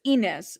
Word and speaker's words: Ynez: So it's Ynez. Okay. So I said it correctly. Santa Ynez. Yeah, Ynez. I have a cousin named Ynez. So, yeah, I'm familiar. That's why, we don't spell it with the Y. We spell it with an I.